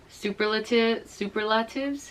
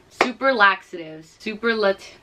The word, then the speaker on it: superlative: On that note, I also won for like senior superlatives? How do you say it? Superlaxatives.